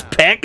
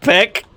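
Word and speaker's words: Baek: say it is it it's pack is pronounced Peck cool I'm learning a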